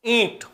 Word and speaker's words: ईंट: जिसके उच्चारण में हवा नासिका से निकल रही हो, मुख के साथ साथ नासिका से भी, ईंट, हल्का सा नाक में वाइब्रेशन हो रहा हो वो चंद्र बिंदु है, और वाइब्रेशन नहीं हो